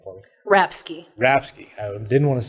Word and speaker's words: Rapske: Rapske.